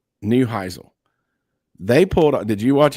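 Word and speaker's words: Neuheisel: Newheisle.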